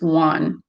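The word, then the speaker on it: Xuan: easier to say right x u a n would be pronounced one very easy and so really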